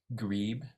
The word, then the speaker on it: grebe: Instead of, it's pronounced grebe.